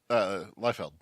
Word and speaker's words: Liefeld: Liefeld.